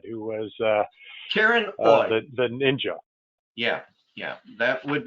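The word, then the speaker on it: Oye: Somebody asked again what the name of the librarian you said, who was Karen Oy. The ninja. Yeah, that would be Karen Oy. Her last name is spelled O-Y-E, and she's a librarian at Kelvin Smith Library at Case Western Reserve in Cleveland.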